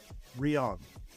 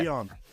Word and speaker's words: Rion: We have Kat, and I'm going to try to pronounce this correctly. Rion. Is that close? Yeah. Rion.